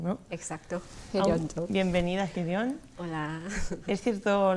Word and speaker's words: Hyeryun Jung: Así que recibo en el estudio a Hyeon Jong, que, bueno, si lo leen en el rótulo lo vamos a leer un poco diferente, pero la pronunciación correcta es Hyeon Jong, ¿no? Exacto, Hyeon Jong.